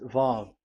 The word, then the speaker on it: Vav: So it's V as in Vogue. So it's really V. How to read Vogue? So the word, the shape Vav is really pronounced V, like Vogue. That is it, pronunciation. So here in this side, it's pronunciation. This is pronunciation. So according to the old Hebrew word today, those who the owner of the words, I mean, so it's a V. So don't change it into W, and you will say that